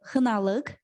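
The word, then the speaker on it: Xinaliq: this is very specific place it's called uh hanaleg but i can spell it for you if you want uh it's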